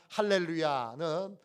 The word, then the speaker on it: 할렐루야: 그러니까 할렐루야는 어떻게 발음해야 되느냐 하면 할렐루야, 이렇게 발음해야 합니다. 할렐루야, 할랄야입니다.